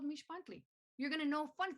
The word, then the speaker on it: Mixpantli: but stay with me mish buntley the x is pronounced sh as in sh be quiet you're in a museum repeat after me mish